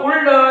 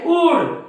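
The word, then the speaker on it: would: शुल्ड काय म्हणतात ते कुल्ड उल्ड शुल्ड पण हे कुल्ड नाही उल्ड नाही शुल्ड नाही हे आहे कुड काय आहे कुड हे आहे वुड हे आहे शुड म्हणजे या डी च्या अगोदर एल हा काय आहे सायलेंट असतो या डी च्या अगोदर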